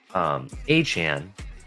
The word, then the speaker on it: Achane: You have Achane. Yes, it's pronounced Achane. You have Achane, and you have Mostert, and we have Jeff Wilson, and we have Brooks.